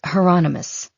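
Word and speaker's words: Hieronymus: And it's heronomous. Rhymes with anonymous.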